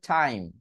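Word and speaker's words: time: তাহলে এই যে টি আই এম ই, এটা উচ্চারণ হবে টাইম।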